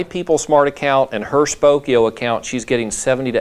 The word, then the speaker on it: Spokeo: And she said between my People Smart account and her Spokeo account, she's getting 70 to 80% of the phone numbers of expireds that she's pulling off HAR. Spell that again. It's like Spoke, S-P-O-K-E-O. Spokeo.